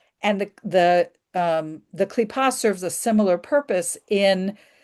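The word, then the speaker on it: kippah: The kipa and the um evil inclination.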